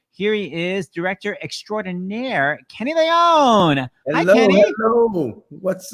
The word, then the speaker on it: Kenny Leon: Here he is, director extraordinaire, Kenny Leone. Hello, hi, Kenny. hello. What's up? Hi, Kenny. Am I pronouncing your last name right? Kenny Leon.